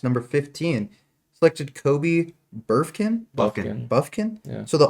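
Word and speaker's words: Bufkin: But I know it's pronounced Buffkin.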